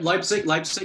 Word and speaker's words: Leipzig: Okay, so on the third one, we've got, I think it's, I don't know how to pronounce it. Is it Leipzig? Yeah, Leipzig, that's good.